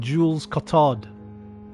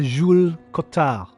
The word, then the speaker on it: Jules Cotard: I very much appreciate that pronunciation, my friend. A lot of voice actors would have said Jules Cotard. I appreciate the Jules Cotard. Perfect pronunciation. They believe that they are